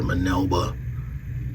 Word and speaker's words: Minerva: they got Minerva and they called her manilba Minerva Minerva I can't really pronounce it they don't have an R sound in Japanese so um but that's